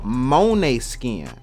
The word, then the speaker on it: Måneskin: you guys tell me how they pronounce as well they call monet skin monet skin that's what y'all told me that was pronounced like so hey they called monet